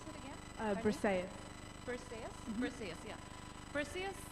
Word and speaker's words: Briseis: Yeah, this character that Madeline's talking about is, sorry, how do you pronounce it again? Briseis.